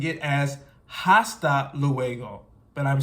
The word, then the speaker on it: hasta: not pronouncing it as hasta luego but I'm saying hasta because in this case here the H is silent the H is muda